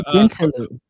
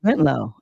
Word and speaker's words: Bentalou: Like I say Bentaloo. And people say Bentlow. I say Bentaloo because I didn't know it was, that's a street in Baltimore. Everybody calls it Bentlow, but it's spelled Bentalou. I call it Bentaloo.